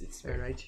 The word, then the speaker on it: Ehrenreich: If I remember, a German guy was pronouncing it. Anyway, Ehrenreich. Yeah, it's Ehrenreich.